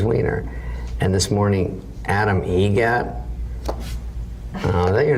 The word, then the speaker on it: Eget: Egret? Spelt differently. Like the bird. That's Egret.